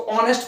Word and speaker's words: honest: तो H क्या है, यहां पे साइलेंट हो जाता है H, तो इसको ऑनेस्ट पढ़ा जाता है। O से इसका उच्चारण जो है शुरू होता है, तो इसका बोलेंगे ऑनेस्ट, ठीक है।